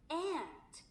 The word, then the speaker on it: ant: ant. 어머니 발음이 좀 다르지 않나요? 우리가 그 옛날에 읽기 위주로 배웠을 때는 그냥 ant였지만 지금은 어때요? ant. A를 길게 발음하고 좀 더 강하게 발음하는 거 어머니 들리셨어요?